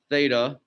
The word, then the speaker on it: theta: you've been exposed to it again it's it's pronounced theta and you'll see it um so now that